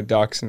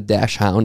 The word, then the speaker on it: dachshund: I have to look up what a dachshund is to know if I'm offended or not. Hold on. Go ahead and pull that up. Spell it like D-O-X-O-N, not a dash hound.